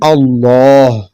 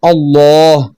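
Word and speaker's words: الله: ലാമിന്റെ മുമ്പുള്ള അക്ഷരത്തിൽ ഫതഹ ദമ്മോ ആണെങ്കിൽ ലാമിനെ വായ നിറച്ച് ശബ്ദത്തിൽ ഉച്ചരിക്കണം. ഇതിന് തഫ്ഖീം എന്ന് പറയുന്നു. ഫതഹ ദമ്മാണെങ്കിൽ അല്ലാഹ്. ലാമിന് മുമ്പുള്ള അക്ഷരത്തിന് കസ്റാണെങ്കിൽ ലാം പോലെ ഉച്ചരിക്കണം.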